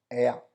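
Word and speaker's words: ella: शी को हम Spanish में बोलते हैं एया। जी हाँ, एया। एया मतलब डबल एल जहाँ पे भी स्पेनिश में आता है, स्पेनिश में डबल एल को हम लोग वाई प्रोनाउंस करते हैं।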